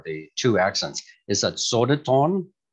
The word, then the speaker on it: Södertörn: And I'm not sure on how to pronounce this university with the umlauts or the two accents. Is that Södertörn? Södertörn.